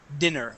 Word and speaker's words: dinner: But when we have dinner with two N's, with an ER at the end, that is dinner, with a short I ending.